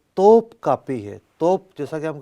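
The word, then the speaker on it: Topkapı: لفظ توپ کاپی ہے، میں بھی بعض اوقات جو ہے نا ٹوپ کاپی پڑ گیا، لیکن صحیح تلفظ جو ہے وہ توپ کاپی ہے۔ توپ جیسا کہ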